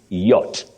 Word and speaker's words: yacht: about that Leisure boat don't say y many people say y Ying that is not in English you say yacht Y yach and yting then we have